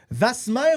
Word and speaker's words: Wasmer: est devant nous vasmer ou was on va aller lui demander salut salut est-ce qu'on dit Wasmer ou vmer was de quelle façon tu le prononces toi notre famille on prononce vasmer parce que ça vient